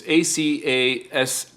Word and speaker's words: ACASIS: It's ACASIS.